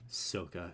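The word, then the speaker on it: Sokka: made in English and you still got his name wrong just listen to it just give it a listen like SOA sooka that's right SOA g go go away just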